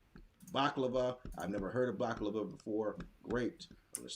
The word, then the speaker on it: baklava: 3 syllables. baklava. Did it say it correctly? Yeah. So baklava is excellent. We have 3.